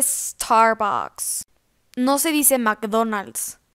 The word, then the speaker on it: Starbucks: sonrisa si me saco no se dice estar box se dice starbucks no se dice en